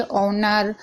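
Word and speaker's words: honour: अगर एच के बाद कोई भी वोवेल्स हो यानी मात्रा हो तो एच साइलेंट रहता है। यानी कि एच है। उसके बाद कोई भी मात्रा है जैसे कि ए, आई, ओ, यू तो एच साइलेंट रहेगा। यहां पर आप पढ़ लीजिए ऑनर, ऑनेस्ट, हंबल।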